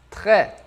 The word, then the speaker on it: très: E um que eu gosto muito, très. Vamos lá, vamos praticar essa pronúncia aqui.